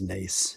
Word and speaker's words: Nace: With with Is it Nace or Ness? How do you pronounce that last name? Griffin Ness? it is Nace.